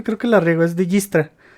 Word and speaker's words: Dijkstra: Espero pronunciar su nombre bien porque siempre creo que la riego. Es Dijkstra. O Distra.